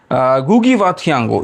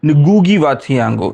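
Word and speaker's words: Ngũgĩ wa Thiong'o: इसका उच्चारण बहुजन ठीक से नहीं कर पाते हैं। तो इसका एक्चुअल उच्चारण है नगुगी वाथियांगो। गुगी वो कर ही नहीं पाएंगे। बहुत लोग हैं। मैं भी नहीं ठीक से शायद कर पा रहा हूं। तो जो भी हो गुगी व थिएंगो बोलने से भी चलता है।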